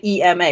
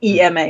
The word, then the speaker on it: EMA: the uk most of us say ema european mahjong association say ema right but then on the continent most of them seem to say and i'm not sure if it's just the way they pronounce the e and i'm mishearing but they seem to say ima the ima the email